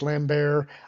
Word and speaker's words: Lambert: Yeah and okay 8181, I know it's pronounced Lambert.